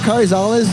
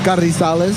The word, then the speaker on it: Carrizales: My name is Karales. And yes, it's a long mouthful of last name, but it's Karales. Or if you want to go Mexican, it's Karisales. Karales.